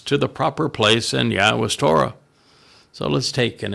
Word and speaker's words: Yahweh: and completely observe Shamar, Yahweh's. This is Yahweh's name as an accurate presentation of how it should be pronounced based upon Eloah, God, through his Torah instructions regarding his Haya existence.